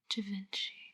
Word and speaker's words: Givenchy: Givenchy.